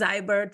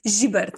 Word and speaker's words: Zibert: secret you can say it's zybert whatever but like maybe for some people that are listening today it's a jber it's um zet with the thick jber yeah it's it's Slovenian pronunciation I mean it's like